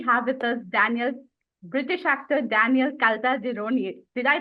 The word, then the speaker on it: Caltagirone: Today we have with us British actor Daniel Caltagirone. Did I pronounce that right?